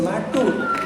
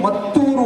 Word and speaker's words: ಮತ್ತೂರು: ಮತ್ತೂರು ಅಂತಾರೆ return as ಮ್ಯಾಟೂರ್ ಎಂಎಟಿ ಯು ಆರ್ but actually ಮತ್ತೂರು ಅಂತ ಗೊತ್ತಿರಲಿಲ್ವ ಎಷ್ಟು ಜನಕ್ಕೆ